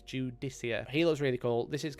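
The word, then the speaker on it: Judiciar: got the dude easier it's pronounced not Judy car Judy Kia it's judicia heels really cool this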